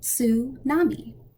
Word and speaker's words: tsunami: About TS, it's ts, not su. To make this sound, first say rats, then take away the ra part and just say ts. Now say tsunami.